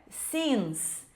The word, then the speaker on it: since: Vejo muitos alunos falando sence, mas não é sence, é since.